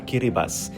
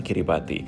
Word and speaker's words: Kiribati: Dan kali ini kita akan mendarat sebentar lagi di tarawa kiribas. Jadi bacanya adalah kiri bas bukan kiri bati. Karena untuk orang sini atau orang lokal itu tidak ada aksen Ti. Mereka tahunya S.